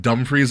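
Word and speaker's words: Dumfries: free but it's it's spelled like dumb fries it's like dumre and Manasses are in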